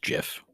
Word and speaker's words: GIF: So, and it is pronounced GIF, according to the inventor of the GIF, like the peanut butter GIF.